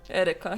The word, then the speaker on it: Edeka: Navi says, yeah, in the Edeka at 7 p.m., and it's the only supermarket here. I love it how you said Edeka. Is it Edeka? Edeka, yeah.